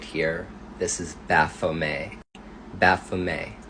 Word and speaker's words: Baphomet: Baphomet, that's how you pronounce this entity's name.